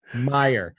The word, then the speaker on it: Meijer: - for no reason yeah is it just Meijer did I say it right Kroger's my leg leg oh oh now I'll never forget it yeah you're welcome Meijer go to Meijer or targets Target Walmart that's